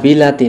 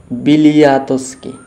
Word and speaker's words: Bialiatski: তো আমরা যে অ্যালেস কী নাম বললাম আমরা যেন, না বিলাতি না বিলিয়াতস্কি, হ্যাঁ অ্যালেস বিলিয়াতস্কি, তাই তো অ্যালেস বিলিয়াতস্কি।